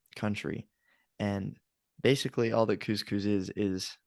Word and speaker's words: couscous: talking about couscous which as a kid I thought it was pronounced cushes I was like oh crucius you know because that like that's what it looks like it's spelled c-o-u-s-c-o-u-s it's like it could be spelled either way really works but it is couscous and uh if you